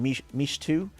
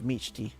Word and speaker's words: Michti: the cosplayer was saying Michtu. They were saying Michtu instead of Michti.